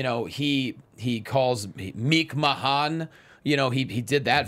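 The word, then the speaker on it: McMahon: from Matt Hardy and she pronounced it meek man and he quoted that and tweeted please pronounce it correctly it's meek Mahon which anyone who watched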